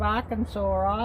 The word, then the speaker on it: Arkansas: of course you know don't pronounce the s on the end of arkansas either but of course you